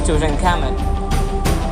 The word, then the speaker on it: Tutankhamun: Egyptologically pronunciation is Tutankhamun.